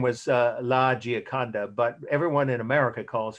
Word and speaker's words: Gioconda: on your syllabus, so I don't need to spell that. Her real name was Gioconda, Gioconda.